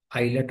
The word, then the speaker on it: islet: इसको हम कहते हैं आइलेट है ये, ठीक है, आइलेट। इसमें एस साइलेंट, आइलेट है ये, ठीक है।